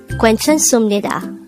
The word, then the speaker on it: 괜찮습니다: of the sounds but although it's its spelling gives up the supnida sound in korea this is pronounced as sumnida so if we combine